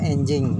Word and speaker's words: Anjing: motor atau mobil mereknya tulisannya di sini Anjing Tapi bacanya enjing ka Lia Semarang kayaknya